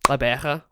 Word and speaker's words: Gqeberha: Gqeberha. Try and say that one. It's the Xhosa click.